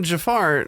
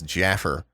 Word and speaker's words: Jafar: Anyway, she pronounces Jafar ever since I was a kid as Jaffer.